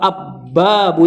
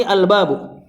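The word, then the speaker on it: الباب: Ini dibacanya al-babu atau ab-babu ya. Tentu kita tahu ini al-babu.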